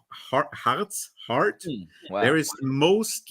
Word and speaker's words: Harz: And the pronunciation "heart" is actually what it means in the mountains of Harz.